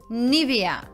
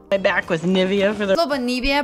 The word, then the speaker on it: Nivea: на они следующего бренда правильно он произносится как неве me why do опять обратить внимание на ударение она на первом слоге nivea nivea происходит от латинского слова